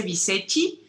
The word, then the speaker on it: Bicecci: creo que sí lo mi familia materna dice bicecci pero creo que en italia no sería bichi como tú lo dijiste ya que creo que